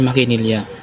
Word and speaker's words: makinilya: pangapat ang salitang makinilya ang tamang pagbikas nito ay makinilya ito ay ginagamit sa pananahi